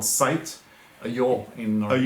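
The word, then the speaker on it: ljå: A yaw in Norwegian. A yaw in Norwegian. LJO. It's that. The A with a O on top.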